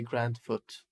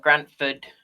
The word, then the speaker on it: Grantford: You say Grand Foot. And that was what? No, Grantford.